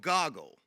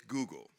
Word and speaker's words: Google: this little small startup called Goggle. And that's how he pronounced it. We all know now it's Google.